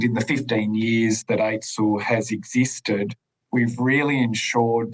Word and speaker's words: AITSL: Before we get started, let's just break down the role of AITSL, which is pronounced aitsl.